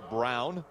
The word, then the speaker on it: Braun: six truck and again it is pronounced brown looks like braun but colin brown the